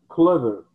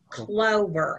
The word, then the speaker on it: clover: smell of new clever okay clover a long o oh clover yeah because normally you know the old it's not pronouncing all those pronouns right yeah this is this is oh like clover and you can be southern